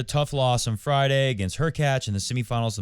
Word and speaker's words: Hurkacz: Hurkacz, rhymes with latch, played really well and he deserved the win.